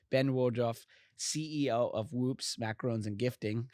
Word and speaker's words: macaron: it's all good uh the technical pronunciation is macaron but macaroon is very well accepted in the in the